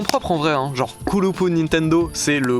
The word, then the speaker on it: Nintento: Il est super ton documentaire Camille, mais il y a pas de D en Tokyona. Du coup, c'est pas Nintendo, c'est Nintendo.